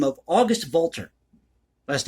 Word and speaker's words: Walter: the name of august walter last name w-a-l-t-e-r in german the w is pronounced like a v this little-known composer or